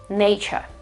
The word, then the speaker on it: nature: Okay, so it's nature, nature. The other word here is the adjective, and that's absolutely pronounced in another way.